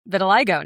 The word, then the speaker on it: vitiligo: Vitiligo. Yes. Oh, okay. Wow. And I also know how to pronounce vitiligo now cuz I always read it and thought it was vitiligo.